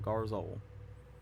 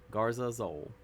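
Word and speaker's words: Garza Zol: into your graveyard, put a +1/+1 counter on Garzol. Garzazol. I've been mispronouncing it the whole time.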